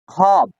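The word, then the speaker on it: خواب: लेकिन पढ़ा नहीं जाएगा। फिर पढ़ा क्या जाएगा? खाब ख अलब बे खाव यानी वाव जो है वो साइलेंट रहेगा। वाव जो है वाव को पढ़ा नहीं जाएगा। सिर्फ लिखा जाएगा।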